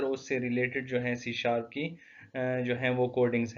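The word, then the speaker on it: C#: سی sharp ایک دوسری popular language ہے that is سی hash. Hash means pronounce سی sharp.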